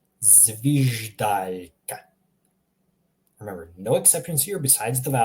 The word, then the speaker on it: zviždaljka: We're pronouncing the first letter here, zviždaljka. Notice how I'm pronouncing in Croatian zvij. I'm reading every single letter individually.